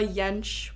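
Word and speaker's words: Yentsch: I like to plug a lot it's yench dot MP4 and I'm gonna spell it because my last name is e-l-l-a-y-e-n-t-s-c-h dot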